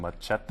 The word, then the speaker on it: Machete: I said it machete last week, but Yeah, it's machete. Machete in the movie. That's how it's pronounced.